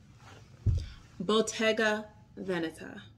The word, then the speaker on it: Bottega Veneta: And that is how you say it. Bottega Veneta. It's Italian.